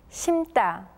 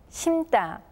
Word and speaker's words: 심다: 심고, 심고, 심다, 심다, 심지, 심지. All of the first sounds for the suffixes are read as tension sounds.